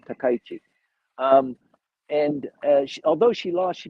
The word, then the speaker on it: Takaichi: of the faction he chose uh sanai takaichi takaichi excuse me i always mispronounced her last name takaichi and although she lost she became the the